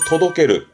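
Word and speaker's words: 届ける: 발음은 도독게르, 도독게르.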